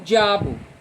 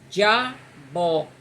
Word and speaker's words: diabo: Como diabo, costuma-se dizer o di e o a junto. Diabo, diabo vira dissílabo e não diabo.